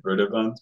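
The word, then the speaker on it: Brøderbund: software or Brer Bund I always want to say Brun because it has this o with the through it and the Danish pronunciation you would say Brun but probably broer Bund is more appropriate um so anyway um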